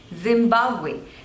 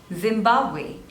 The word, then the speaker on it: Zimbabwe: the last one is Zimbabwe Zimbabwe Zimbabwe there are three syllables and this dress is on the second one Zimbabwe Zimbabwe Zimbabwe Zimbabwe Zimbabwe